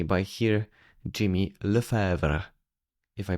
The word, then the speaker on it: Lefevre: in C written in C by here Jimmy Lever if I pronounced it properly.